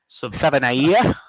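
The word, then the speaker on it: Savaiinaea: And then that uh guard, I don't know how to pronounce his last name. Jonah Saba Sabanaya, is that it?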